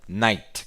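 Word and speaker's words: knight: aparecendo para vocês aí se pronuncia night com começo com a letra K no princípio k significa o quê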